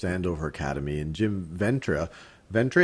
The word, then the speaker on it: Ventre: Ventre, am I pronouncing it right, Jim? Ventry, yes.